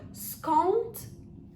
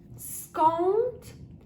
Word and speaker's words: skąd: even fast, just normally, that D is quite soft, and it changes phonetically to the sound of a letter T. So skąd, skąd. But we actually write it with D, as you can see on the slide.